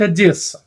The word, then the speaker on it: Одесса: Правильно говорить Одесса.